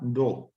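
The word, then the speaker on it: Dawes: En teoría se pronuncia plan Doe, pero bueno, plan Dewis.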